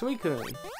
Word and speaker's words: Suicune: It's Suicune, and it jumps around us, and yeah, bye-bye, and then he shows up. Euswine, yo, RPG, wasn't that Suicune just now?